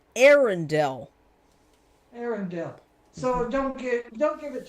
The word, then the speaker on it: Arendelle: It's pronounced Arendelle.